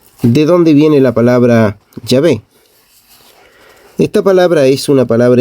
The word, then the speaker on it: Yahvé: estas 4 consonantes, YHWH, que los judíos pronunciaban así, Yahvé, y en castellano se escribe Yahvé. La pronunciación Yahvé es sin duda la pronunciación más correcta del hebreo original para indicar al Dios como yo soy el que soy.